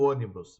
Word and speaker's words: ônibus: Olha só, ônibus, não é ônibus. Então, a mais forte é a palavra proparoxítona.